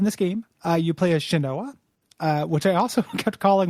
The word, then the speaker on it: Shanoa: So in this game, you play as Shanoa, which I also kept calling, whenever I read it, I kept calling it Shanwao. Shanao. I just kept thinking different ways, but Shanoa, I think, is how it's pronounced.